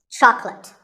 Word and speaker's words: chocolate: this at the store make sure that there are only two syllables chalk and let chocolate and remember there's no late in chocolate speaking of chocolate how